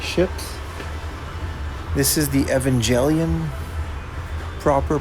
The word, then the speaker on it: Evangelion: This is the Evangelion, proper pronunciation.